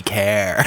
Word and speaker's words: car: Well, that's assuming you pronounce car like car. Car. It should be care.